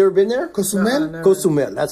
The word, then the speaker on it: Cozumel: No, Cozumel.